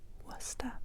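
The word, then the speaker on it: Worcester: pasasta, c'est wasta et peut-être vous savez déjà vous êtes famillé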